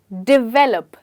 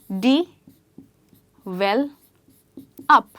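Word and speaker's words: develop: अब इसकी मैंने बहुत वियर्ड प्रोनाउंसिएशन सुनी है, जैसे कि कुछ लोग बोलते हैं डेवलप, कुछ बोलते हैं डेवलप, बट इसको हम एक्चुअली कहते हैं डी वेल अप।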